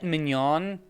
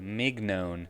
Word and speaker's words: mignon: we have a filet mignon mignon that's what is Mig known sorry I mispronounced it hmm some kind of